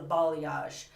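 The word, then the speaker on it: balayage: root and that's what I loved about the ball yash now it took me a while to figure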